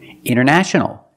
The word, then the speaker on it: international: wanted or wanted it's more common to hear Americans say wanted you have NT in the middle the t is silent other examples internet or Internet International International or International example the internet is international